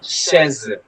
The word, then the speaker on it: chaise: Say ma chaise. Chaise. Say ma chaise. Okay. Chaise. CH will be pronounced as sh. Sh. So it will be chaise.